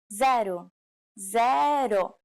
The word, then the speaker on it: zero: um do you know it's the same as in English but with a different pronunciation zaru zero you don't have any